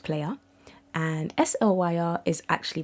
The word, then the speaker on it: PLYR: So PLYR is actually pronounced player and SLYR is actually pronounced Slayer.